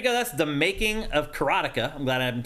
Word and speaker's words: karateka: listed this one, but the announcer said Karateka. No, and I'm like, is that how you're supposed to pronounce it? Because I don't think that's right. There's no, because it's just karateka.